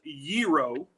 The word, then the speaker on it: gyro: But Rachel to to get to your it is gyro is how you say it.